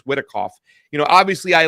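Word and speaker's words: Witkoff: Uh Steven Whitikov, is it Whitikov or Wickoff? I can't even say his name. I think it's Whitikov.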